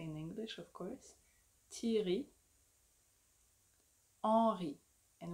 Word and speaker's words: Thierry Henry: Thierry. Henri. And we don't say Henry or Henri. It's Henri.